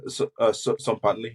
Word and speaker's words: Tzompantli: Is it Tzompantli? Have I been saying it wrong? It's close enough. Yeah. Tzompantli. Yeah.